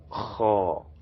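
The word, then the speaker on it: خاء: And the seventh, which is this, is pronounced to be kha, as if we want to bring out flame from our mouth, kha, as in Khadija, kha. So the KH sound, kha.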